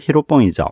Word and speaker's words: 히로뽕: 성분이든 약의 이름이 필로폰입니다 일본식 발음으로는 히로뽕이죠 필로폰은 노동을 사랑한다라는 뜻의